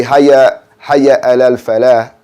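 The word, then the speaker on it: حي على الفلاح: If you just say hayya alal falah and it's not a hard H behind that, you're saying it wrong.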